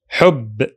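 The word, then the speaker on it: حب: So the whole word has only 1 syllable. Hubb, hubb.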